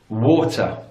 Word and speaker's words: water: there okay number one in British English water water or walk water so your group you've got glottal ization on the team there you drop the T so it's water or water war in American English that T becomes indecent as water water okay so British English water or water American English water notice the vowel sounds there in British